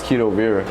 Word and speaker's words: Keedo Viraa: Keedo Viraa, like K-E. Because from other people I was hearing Viraa. Yeah, I mean, like some people say Viraa too. Yeah. I don't mind how they say it, but like the proper way I say it is Keedo Viraa.